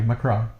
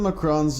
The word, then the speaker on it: Macron: and saying like, I have to correct you, Macron. Macron. Yeah. Not Macron. Oh, Macron. Ghost pronounces it Macron.